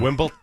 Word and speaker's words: Wimbledon: Wimbledon. It's it's DON. Like downtown. Okay, hold on. Say Wimbledon. it correctly again. Wimbledon. Wimbledon. Mhm. Okay, I got it because I got corrected. There it is. Wimbledon.